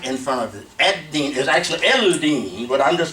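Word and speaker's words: الدين: All right, this is "a," and we're skipping the L in pronunciation. So Ad-Deen, Sukoon here on the lamb here.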